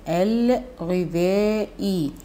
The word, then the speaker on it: الغذاء: شوف انا بنطق اللام، الغذاء لام القمرية، تكتب وتنطق غذاء، به مد بالألف والحرف